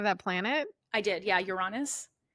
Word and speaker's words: Uranus: People say, what do they say? Uranus? Uranus. Uranus. I call it Uranus. That's not how my 8-year-old son calls it. Yeah. Everyone joked right away. I'm like, this is how I pronounce it.